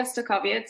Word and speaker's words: Stokowiec: who am i um my name is stokovic it's a name that is difficult to pronounce and it's on a previous slide this